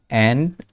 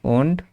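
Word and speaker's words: und: জিবেন এই যে জিবেন হুন্ডার যেহেতু সাচর ঘরে আছে তারপরে নয়ন এই যে এই নয়টা উচ্চারণ করব এন্ড sorry উন্ড Nayan cis এইযে তারপরে 908 যদি উচ্চারণ করি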